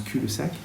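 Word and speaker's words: cul-de-sac: Euh donc c'est c'est un américain donc il le prononce cul le sac.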